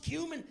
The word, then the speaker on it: cumin: It's pronounced cumin, and now you'll never forget.